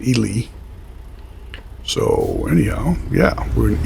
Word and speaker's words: Ely: in Ely Nevada as I said I was pronouncing it Eli but somebody from there says it's called Ely so anyhow yeah we're in Ely Nevada heading